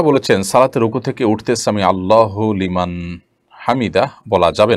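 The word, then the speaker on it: سمع الله لمن حمده: দেখুন, সামি আল্লাহু লিমান হামিদা, এটি হলো শব্দের সঠিক উচ্চারণ। সামি আল্লাহু লিমান হামিদা, সামি আল্লাহ লিমান হামিদা, এটা সঠিক উচ্চারণ নয়।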